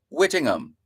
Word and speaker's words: Whittingham: as a teachable moment those names are words that end with h-a-m you don't pronounce the h so you don't go out of your way to say witting ham no it's wittingham Whittingham you don't go out